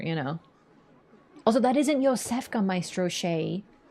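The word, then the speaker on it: Iosefka: name oh funny um so yfa traditionally spelled with a J but with the same sound is a Polish name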